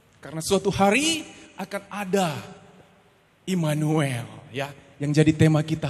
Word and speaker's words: Immanuel: Bacanya Immanuel.